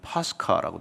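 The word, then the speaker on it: πάσχα: 그걸 아람어로 발음하면은 파스하가 됩니다. 파스하. 이걸 헬라어 성경 70인 성경들이 다시 음역을 하게 되면 파스카라고 되어 있어요.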